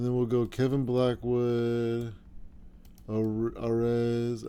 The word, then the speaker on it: Arez: Arez. I almost said Ariz.